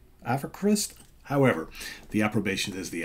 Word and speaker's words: AVKRVST: V is spelled or it's pronounced kind of like a u so aquarist aquarist avocrist however the approbation is